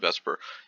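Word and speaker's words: VSEPR: for molecular geometries is called Vesper I pronounce it Vesper it stands for valence shell electron pair repulsion and then there's a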